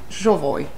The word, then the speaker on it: Jovoy: came to suspect that actually you pronounce it jooy interesting yes because it